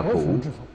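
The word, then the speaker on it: 不: lượng bao nhiêu chăng chữ bất này phải đọc là phủ như chữ Khả Phủ có được Hay chăng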